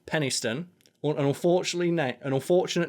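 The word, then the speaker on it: Penistone: Even says on it they're aware that the name sounds rude because it says um pronounced Penniston an unfortunately an unfortunate name for a town really especially when hyphenated but it's a bloody lovely place to live.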